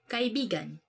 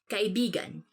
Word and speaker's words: kaibigan: this word, because like you have to say it like this: kaibigan. Kaibigan. Because kaibigan means friend. But when you twist it a bit and say it like this, kaibigan. Kaibigan. That's kind of, it's not really a natural way of saying it, but it actually means lover.